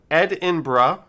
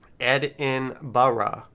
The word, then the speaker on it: Edinburgh: how to pronounce it i think there are two fairly similar ways ed inbra bra is like the first part of brush without the sh sound ed in barra okay so this is